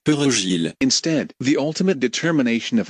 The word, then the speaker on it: perejil: Both French and Haitian Creole speakers can have great difficulties with the alveolar tap or trill of the R in Spanish, pronouncing perejil.